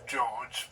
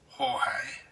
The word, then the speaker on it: Jorge: A lot of people call him George, but it's actually pronounced Horge.